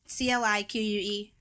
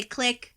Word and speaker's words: clique: Okay, so you pronounce CLIQUE? Clique. I say click, you say clique.